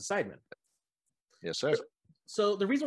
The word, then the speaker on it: Seidman: that i got that right right he's pronounced pronouncing sidemen yes sir so the reason why i've got